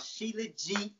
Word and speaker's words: Shilajit: You got to try this shit called Shilajit or Mumio.